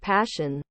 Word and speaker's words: Pashian: I knew a Pashian, pronounced Passion.